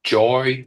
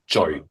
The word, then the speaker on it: Jui: It was the the Jui? So, Jui with a U. Jui.